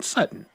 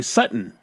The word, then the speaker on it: Sutton: It's just I young men, young women, they don't pronounce T's. And so, like, there's there's a a player here in Denver. His name is Courtland Sutton. Okay. S U T O N. Sutton.